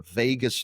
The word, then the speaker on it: vagus: That oxygenates this nerve that runs through the center of your body called the vagus nerve. It's not spelled like Vegas, Vegas, like Las Vegas.